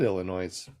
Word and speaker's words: Illinois: is it our Kansas why is Illinois have a S at the end if you're not supposed to pronounce it I know and